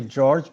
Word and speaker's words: Jorge: It's actually George, because I'm originally from Portugal, so we pronounce the J like in English, not like in Spanish.